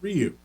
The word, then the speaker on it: Ryu: Because, having taken Japanese, I know that it's pronounced Ryu. Like, King Ryu, Shin Ryu.